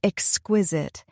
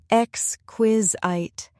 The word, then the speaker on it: exquisite: Let's take the word exquisite. It has three syllables, x, quiz, it. The stress is on the second syllable. Xquizite. Try saying it slowly with me. Exquisite.